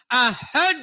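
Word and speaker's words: أحد: qalqalanya, ahad, bukan ahad, tapi ahad. Iya benar. Ada dahnya begitu kan.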